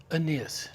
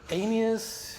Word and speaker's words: Aeneas: So the correct pronunciation is Aeneas. Aeneas, at least I think. Am I screwing this up? I have no idea. I think it's Aeneas.